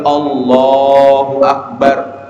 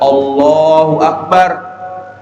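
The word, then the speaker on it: الله أكبر: seperti misalnya ungkapan Takbir Allahu akbar Allahu akbar maka yang harus dia panjangkan adalah kalimat Allahnya Allahu Akbar Allahu Akbar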